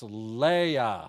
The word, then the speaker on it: Leia: It's pronounced Leia, like Princess Leia, Doug.